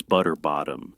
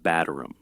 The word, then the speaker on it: Batterum: One bishop allegedly called a bride Miss Butterbottom instead of Batterum.